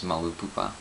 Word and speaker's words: Malupupa: As for my username, which is Malupupa, and yes, it's pronounced that way, there is a story behind it.